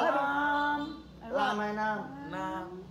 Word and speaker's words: Hà Nam: Nam. À đấy, phát âm chuẩn vào Nam nhé.